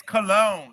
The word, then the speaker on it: Colon: Boots Episode 7, Colon. So if you want to see his lovely face, you'll be able to see it on the YouTube channel. And it's Cologne. It's Cologne, Michael.